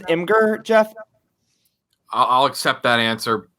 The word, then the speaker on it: Imgur: i that's not part of the question maybe inger no five huh okay or is it that old say say that say that is it's pronounced imgur jeff i'll accept that answer okay cool but